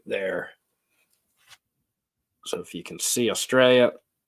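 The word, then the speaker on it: Cairns: the Marina Port Douglas is north of of cans or it's pronounced cans it's spelled KS with than are but everyone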